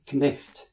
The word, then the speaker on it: cniht: Originally, in Old English, the word was knicht, where you pronounce the C with a K sound and the H with a throaty or guttural sound.